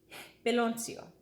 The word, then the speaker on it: piloncillo: Piloncillo. And so many people pronounce it so many different ways.